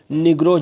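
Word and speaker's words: Negroes: इसको आप लोग स्पेलिंग करने में मिस्टेक नहीं कीजिएगा, सॉरी, इसको आप प्रोनाउंसिएशन में मिस्टेक नहीं कीजिएगा, उच्चारण करने में मिस्टेक नहीं कीजिएगा। निग्रोज होगा। ठीक है, याद रखिएगा, निजरोज नहीं पढ़िएगा।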